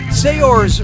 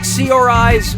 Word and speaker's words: Saoirse: How do you pronounce, her name? Saoirse Ronan, Saoirse Ronan, Saors Ronan, or Saoirse Ronan?